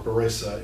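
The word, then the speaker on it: baraita: for the beret or barissa as it's called in the ashkenazi pronunciation okay so um these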